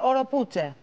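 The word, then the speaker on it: Oropouche: Ο παγκόσμιος ιός που απειλεί και αφού ρώτησα και φίλους Ισπανόφωνους λέγεται οροπούτσε.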